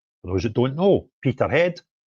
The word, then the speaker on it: Peterhead: I'm off to Peterhead, or Peterhead, as our English friends pronounce it, for their united protest, which is at Drummer's Corner at 12 noon.